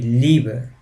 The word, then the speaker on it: Liebe: It's a prolonged sound of the sound E, so that's what we are talking about with this letter combination. I mean, the German language, I could give you an example. It would be Liebe, which is love in German.